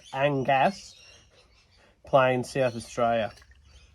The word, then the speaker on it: Angas: angas not us it's angas playing South Austria it's probably pronounced exactly the same way Angus but uh Angus is usually spelled with a u so here we go